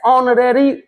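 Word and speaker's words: honorary: अब छोड़ो इसके आगे यह एच जो है साइलेंट है यहां ओ से शुरू हो रहा है इसलिए यहां पर एन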